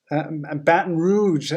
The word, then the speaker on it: Baton Rouge: needed one um bill says yes to french pronunciation is good and eliza says it's baton rouge ah baton rouge cool mandy from baltimore wonderful